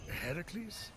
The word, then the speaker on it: Heracles: you doing there that thing with your voice heracles yeah that that is how it supposed to be pronounced seems like a lot of work but